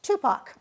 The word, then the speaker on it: TUPAC: director of Tacoma Urban Performing Arts Center pronounced Tupac yes Claire welcome to